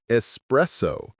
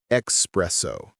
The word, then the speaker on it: espresso: And espresso, not espresso. There's no X in it.